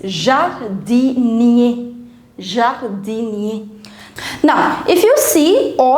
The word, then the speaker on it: jardinier: Now all the words which end with ER, all the words which end with ER, you pronounce this ER as A. So it's jardinier.